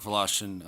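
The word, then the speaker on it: Wlaschin: Mark Velashian. Uh, my name is spelled M A R K.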